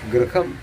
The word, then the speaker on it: ഗൃഹം: ഗ്രഹദോഷം മാറ്റാൻ എന്ന് പറയും രണ്ടും ഗ്രഹ എന്നാണ് പറയുന്നത് ഗൃഹം ആണ് വീട് ഗ്രഹം നമ്മുടെ നവഗ്രഹങ്ങൾ അപ്പോൾ ഉച്ചാരണത്തിൽ അതുപോലെ വൈകുണ്ഠൻ